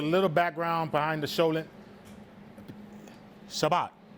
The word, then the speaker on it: Shabbat: So the cholent is a Jewish dish, and to give a little background behind the cholent, Shabbat. Is that how you say it, Shabbat? Yeah. Shabbat.